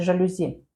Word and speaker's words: Жалюзі: На який склад падає наголос у слові? Жалюзі чи жалюзі? Жалюзі на третій склад.